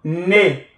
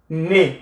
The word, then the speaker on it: nez: Un, le nez. Nez avec Z à la fin. With Z at the end. Un, le nez. On ne prononce pas.